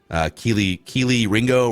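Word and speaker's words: Kelee Ringo: We got some Cam Smith, some Deontay Bankses, some Keely Ringo, right? That's how you pronounce his name.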